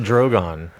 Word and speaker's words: Drogon: Drogon. Drogon. Drogon, Zach. Okay, That's what they pronounce it. It's Drogon.